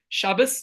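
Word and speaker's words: Shabbos: Shabas as we pronounce it in our Ashkanazic or uh I'm originally from European extraction. So that's the way we pronounce it. There's different ways we pronounce Hebrew words.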